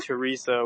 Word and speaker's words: Teresa: So yeah, I mean, Soro, I have no idea how to pronounce your name. I'm sorry. Just like start talking. Hello. Yo, what's good, Teresa?